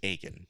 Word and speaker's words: Akin: And it says Stephen Akin pronounced Aken.